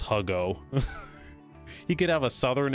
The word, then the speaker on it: Hugo: It's pronounced Huggo.